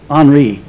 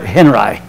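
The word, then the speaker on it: Henri: quote from Robert Henry some people tell me that should be Robert on me but he was from Nebraska and he pronounced it Robert Henry he was a famous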